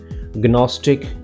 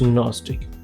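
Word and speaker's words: gnostic: गनश नो इट्स नश गस्टिक इट्स नस्टिक Guna it's न GNOME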